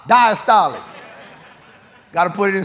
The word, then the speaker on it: diastolic: that opening is diastolic how y'all say diastolic like Apostolic diastolic got to put it in spiritual terms all right so how we say the first one systolic the second one Apostolic diastolic so when it beats